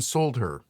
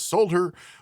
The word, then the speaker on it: solder: I, from here on out, will be pronouncing the L in Solder.